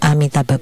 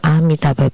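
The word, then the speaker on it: Amitabha: of the name of amitaba Buddha the a in amitaba is very important and should not be pronounced as om for like in the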